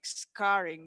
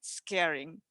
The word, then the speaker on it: scarring: not quite on point like scarring not scaring scare is like afraid of something scarring so and I couldn't